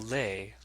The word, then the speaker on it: les: And les is just les with no S sound at the end, even though it has an S.